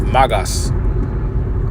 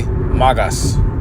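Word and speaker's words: μάγος: All right, that word sorcerer is magas. Okay, magas. That's how you say it in the Greek.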